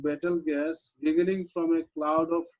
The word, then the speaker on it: Betelgeuse: What is the pronunciation of it? Betelgeuse. Battle gas, It's right?